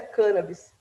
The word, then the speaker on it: cannabis: a respeito disso e ele também adotava a pronúncia cân Abis E aí né eu fui ver inclusive com